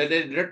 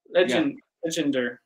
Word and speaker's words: Legendre: then you have like how do you say Legendre transform? Legendre. I think I'm saying it wrong. It's French, so I was saying Legendre.